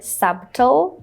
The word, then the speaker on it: subtle: So a lot of people want to say subtle. They want to pronounce all the consonant letters here, just like in the word debt. A lot of people, instead of saying debt, they want to say debt. But unfortunately, the B letter here is silent.